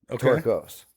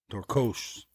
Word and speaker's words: Torkos: How do you say it with the Hungarian accent, not the American accent? Torkos. Torkos.